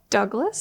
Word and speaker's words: Douglass: It is with two S's, which is unique. It's not the French version.